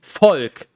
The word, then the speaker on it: Volk: here's the thing like the german word for folk which would be folk v-o-l-k as in german it's pronounced folk which is like f-o-l-k in english so that's why you